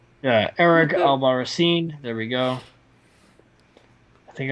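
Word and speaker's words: Albarracín: I always said it wrong every single time. Because I'm not calling him Captain America, because he's too much of a goober. Nah, but you could have just pronounced the vowels correctly.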